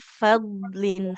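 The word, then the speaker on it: فضل: Boleh diulang bisa sedikit di fadlin. Huruf dotnya dia harus tebal ya.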